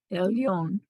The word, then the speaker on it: Elyon: Well, it's L, Oh, and then it's El. Yon. He wants you to. Yon. He's trying to get you to everyone to realize that Yeah. the blend is silent. That letter is silent with the schwa under it, and then the rest of the word.